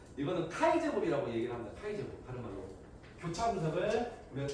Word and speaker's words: 카이 제곱: 그래서 이거를 카이 제곱이라고 읽습니다. 이거를 카이 제곱. 읽을 때 이렇게 읽어요. 통계에서. 카이 제곱 검증식 유의점은 기본적으로 표본의 수가 많을수록 바람직해요.